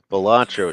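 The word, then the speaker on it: Balatro: the actual name of the game can you spell it out for me I certainly can it's batro it's b a l a t r o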